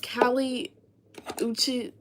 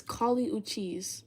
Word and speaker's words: Kali Uchis: I said Callie Uchi... Callie Uchis, or however you say that woman's name. People were saying I look like her. So I asked Alexa, I said, how do you say that name? And Alexa was like, it's Kali Uchis, okay?